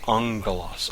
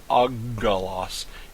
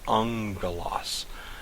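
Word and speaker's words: ἄγγελος: It's important to note on this that when a gamma comes before another gamma, kappa, or key, that gamma is pronounced like an NG sound. Example is the word ungalos. Ungalos. It's not uggalos, it's ungalos.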